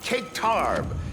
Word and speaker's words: caic tarbh: This is a prime example of cake tarb. That's Irish for an American term we can't say on TV, but it rhymes with bull spit.